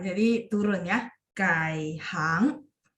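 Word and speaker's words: 改行: 顾问， 15, hangnya 2. Jadi kai hang.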